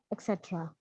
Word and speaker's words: etc.: things like love, respect, etc. Etc. गलत pronunciation बोलिए. It is ETCETE etc. Not K की आवाज नहीं है, T की है.